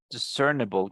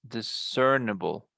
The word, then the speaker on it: discernible: Discernible, guys. Discernible. Discernible. Yeah, that's how you say it.